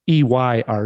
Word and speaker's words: Eyre: It's Ayre, right? It's Eyre.